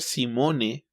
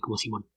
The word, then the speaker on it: Simone: de hecho Debería ser Debería ser Simone pero dejémoslo Simón porque así Creo que lo pronuncia ella me parece ella loir Simón más suavecito que como lo pamos en español no no tan marcado el acento al lado pero